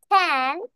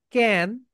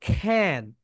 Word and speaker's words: can: এটাকে আমরা সবাই বলি ক্যান, এটাকে আজ থেকে আমরা বলবো খ্যান।